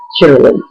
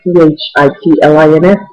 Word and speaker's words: chitterlings: But today, I don't have to eat chitterlings. And forgive me for pronouncing it correctly, because everybody else says Chitlins, chitlins. But when you see the package in the store, it says chitterling, Chitterlings.